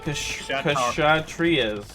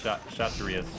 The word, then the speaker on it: Kshatriyas: The Kshatriyas, we'll say. No, the K is silent, so it's Kshatriyas.